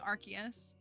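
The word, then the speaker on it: Arceus: I had to force myself to start saying archus because I've like been on podcasts and I've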